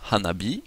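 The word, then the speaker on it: 花火: la complexité du japonais nous pouvons combiner si nous mettons ensemble Hann et B nous obtenons Hanabi qui veut dire le feu d'artifice ou encore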